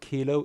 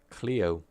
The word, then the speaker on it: Kilo: And the last player we've got, it's not Kilo, it's always pronounce his name incorrectly. Sorry for mispronouncing your name, Kilo. It's actually pronounced Cleo.